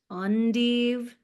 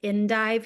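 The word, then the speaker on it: endive: It's technically pronounced undeve from what I understand, but I think everybody calls it indive here.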